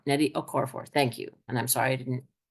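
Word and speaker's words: Nnedi Okorafor: Grace Lany Netty okoror Netty okoror it's n n d i and her last name is spelled o k o r a f o r Netty okoror thank you and I'm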